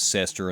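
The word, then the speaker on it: Cester: of years ago that it's an Italian surname, so it may actually supposed to be pronounced Chester, but the Anglicanized version of that is Sester, and that's how they're always introduced in interviews.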